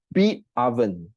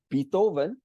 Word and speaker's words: Beatoven: In fact, the fourth one, Beatoven. Beatoven. You know Beethoven, the composer? So yeah, that's why I think that's how it's pronounced, Beatoven. But I like to call it Beatoven.